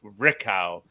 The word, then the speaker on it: Richelieu: that's that'd be the Richelieu River I said hey pronounce it so funny story my uh my mom's maiden name is Richelieu rikow and in France were part